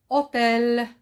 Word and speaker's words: hôtel: bien hôtel le motel commence par un h muet hôtel tiens un autre mot